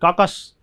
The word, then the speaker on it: carcass: में लाश, dead body, कार्कस, काकस, आर का उच्चारण नहीं होता लगभग।